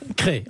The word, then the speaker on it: Crest: en parler parce que cré effectivement ça s'écrit cest dans la drôme et on dit cré comme s'il y avait un accent circonflexe en quelque sorte comme forêt voyez forestier forêt cré et c'est la ville